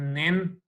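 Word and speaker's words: 您: Okay, अब pronounce करना मुश्किल नहीं है, न और इन को मिलाना है, राइजिंग टून डालनी है, नेन।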